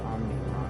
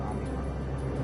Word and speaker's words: Omicron: I thought it said Omnicron. It's pronounced Omnicron. It's pronounced Omicron.